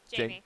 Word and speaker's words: Jaime: How are we supposed to say it? Jamie. Okay. Yep. I'll go Jamie Rodriguez. I was very confused all winter. I was saying it wrong all winter. He never said anything to me, but I got it fixed up in the spring.